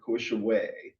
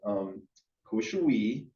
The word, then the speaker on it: Kawishiwi: And so I did ask some Ojibwe elders about, okay, so I've heard it said several ways, Kawishiwi or Kawishiwe? Like, how do you say it? And they said, Kawishiwi is the way to say it.